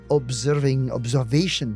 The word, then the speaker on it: observation: The S after the B is a strong S. Observation. Whereas in English, the S sounds like a Z.